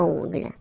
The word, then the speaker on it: ongle: Okay, O-N, remember, nasal, ongle.